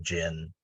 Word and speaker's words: djinn: It's pronounced the same, gin.